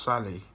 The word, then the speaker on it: Salı: And in Turkish, Tuesday is called Salı, and it could also, in English, it would be pronounced Sally.